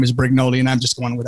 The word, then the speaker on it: Brignole: me just say that we should probably call my name brignoli okay brignoli just because that's the common pronunciation you are correct technically it's brignol or brignol but um it's i'm